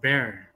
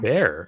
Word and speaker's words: Bexar: Is it Bexar? Bexar. It's pronounced Bear County. Bear.